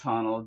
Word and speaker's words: Honnold: Alex Honnold, yeah. Honnold.